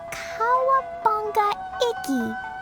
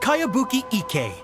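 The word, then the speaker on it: Kayabuki Ikkei: one i've never heard of it by cowabunga icky this is a really strange name who's this cowabunga it's pronounced kayabuki ek that would be me outlander brigade is a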